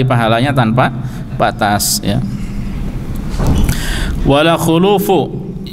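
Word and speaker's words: خُلُوف: Tanpa Batas ya wala khulufu yang benar yang disepakati bersama Bacanya adalah khuluf khnya dah wala eh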